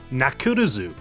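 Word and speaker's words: ナックルズ: had to be changed in japanese knuckles name is pronounced nakurazu you'll have to excuse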